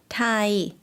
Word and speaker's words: ไทย: ไทย 네, 이 단어는 아마 영어식이랑 발음이랑 똑같기 때문에 익숙하실 것 같아요. 타이이고요.